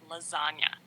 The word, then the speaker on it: lasagna: is in the word lasagna there's a silent G in the word itself so really G's move